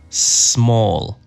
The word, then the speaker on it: small: grande small pequeño y Cuidado con la pronunciación de pequeño empieza con S no con e small Easy fácil dificulte difícil